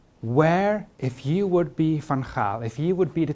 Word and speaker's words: Van Gaal: If I ask the group over there, where should Van Gaal, apparently you pronounce it in English, but it's weird, he's Van Gaal.